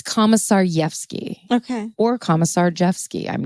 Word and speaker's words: Komisarjevsky: they're spotted by a recent parolee named Joshua Komisarevsky, is basically how you pronounce his last name.